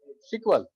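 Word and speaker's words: SQL: हैं alphabet S क एल अगर इसको अगर प्रोनाउंस करो वर्ड तो क्या पढ़ोगे सीक्वल लही बोला जाता हैल बोलो बो सब यही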